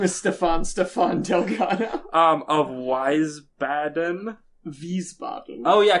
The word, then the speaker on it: Wiesbaden: Wiesbaden. Oh yeah, because W's are pronounced like V's.